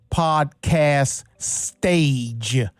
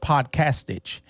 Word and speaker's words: Podcastage: ban Drew podcast Stitch it looks like podcast stage like a stage that you perform on but it's pronounced podcastage he has a YouTube